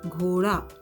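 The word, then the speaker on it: घोड़ा: So the pronunciation of D is that of d and not d. So it is not ghoda, it is ghoda, ghoda in Hindi.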